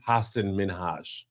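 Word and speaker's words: Hasan Minhaj: H Min H yeah you gotta be real light with that you got you got be gent gotta be gentle on that second one Hass Hass minhaj Hass not H or H what I say I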